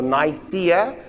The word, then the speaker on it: Nicaea: So Nicaea is pronounced Nicaea. I'm going to not say Nicaea again for the rest of the lecture.